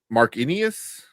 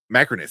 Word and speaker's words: Macrinus: There's Marcus, which is Pedro's character, but then Marcinius, I think it was Denzel's character. Or how do you pronounce it? Macrinus? Macrinus, yeah.